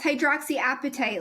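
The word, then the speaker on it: hydroxyapatite: I pronouncing it correctly hydroxy appetite is that how yes hydroxy appetite like your hungry appetite yes yeah yeah I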